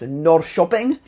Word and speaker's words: Norrköping: Secondly, the K sometimes makes an SH sound, which I only realized after filming this. But like the city that's spelled Norrköping is pronounced Norrköping.